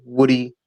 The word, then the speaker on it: Wudi: Like it rhymes with booty, Woody.